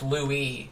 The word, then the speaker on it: Louis: What about Louis? Oh, pronounced Louie.